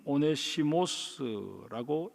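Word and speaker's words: Onesimus: 헬라어로 오네시모는 오네시모스라고 읽습니다.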